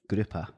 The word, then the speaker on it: Gruppe: Gruppe. So grouper.